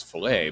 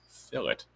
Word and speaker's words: fillet: it's right here see it says filet but it actually means fill it i'm going to click